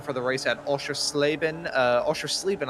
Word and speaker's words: Oschersleben: Oschersleben, I believe, is actually the correct pronunciation of that track.